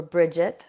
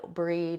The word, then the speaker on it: Brigid: about when is Brid's Day or Brigid or Bridget. So many different pronunciations for her name. So Brigid or Brigid is the goddess that is often associated with Imbolc. Now, Imbolc is so associated with Brigid, Breed.